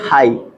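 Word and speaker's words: high: आगे देखेंगे एपल देखिए एच आई जी एच इसको क्या पढ़ेंगे हाई ठीक इसको क्या पढ़ेंगे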